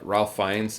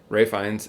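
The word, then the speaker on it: Ralph Fiennes: knightley is georgina who is the duchess uh ralph finds right it's spelled ralph but it's pronounced ray ray finds is the duke dominic cooper is charles gray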